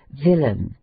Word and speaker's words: villain: In a few words ending in ain, the accent is placed on the former syllable, as villain, which is pronounced as the natives of Whitechapel pronounce willing.